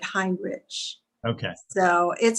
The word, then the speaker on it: Heinrich: heinrich you think it you'd think it would be heinrich uh you know h-e-i-n-r-i-c-h but he does he pronounces it hind rich okay so it said